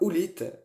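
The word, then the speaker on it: howlite: débordement on peut aussi utiliser en pierre la oulite donc ça s'écrit h o W l i T e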